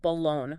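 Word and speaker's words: balón: I probably shout Balon putting the emphasis on that last syllable see you did it naturally you instinctively stressed the lone yeah which is the stressed syllable in Spanish and because that stressed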